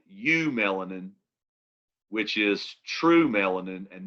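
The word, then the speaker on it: eumelanin: called true melanin which the prefix that means true is eu and so you have what's called u-melanin which is true melanin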